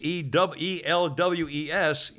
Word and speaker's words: Elwes: And Carrie Ewells, E-L-W-E-S, I guess it's Elwes, is pronounced, is 61 from Princess Bride.